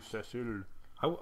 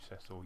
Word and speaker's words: Cecil: One thing I will touch on is that in this game, even with the voice acting, he's called Cecil, not Cecil, as Americans would wrongly pronounce it.